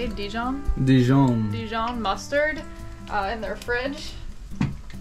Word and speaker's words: Dijon: Dijon.